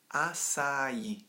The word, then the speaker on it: açaí: title of this podcast is how do I pronounce acai in English so there you go that's how you say it acai but why and this is where I've had